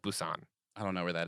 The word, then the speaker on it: Busan: want to say that Busan a spelling bee usan so it sounds like Busan I don't know where that is great and is currently out of motel no telling a faceless pic Busan okay um we get